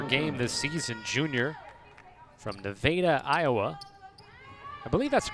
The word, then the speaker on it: Nevada: a half per game this season junior from nevada iowa i believe that's the correct pronunciation to veda that is correct yes or